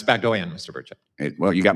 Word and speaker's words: Bagdoyan: It's Bagdoyan, Mr.